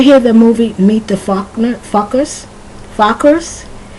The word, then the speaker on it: Focker: Did you ever hear the movie Meet the Fockers? Fockers? It's Focker. If you pronounce it correctly, it almost sounds like a curse word.